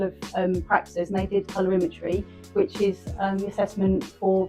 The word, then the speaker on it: Colorimetry: So can you pronounce it? Clarity Colorimetry.